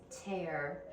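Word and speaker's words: tare: digital scale, but I have looked up the pronunciation, and apparently it's tear.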